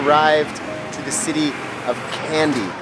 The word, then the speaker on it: Kandy: After a couple of hours of driving, we have arrived to the city of Kandy. Spelled with a K, not with a C. But pronounced like the confectionaries.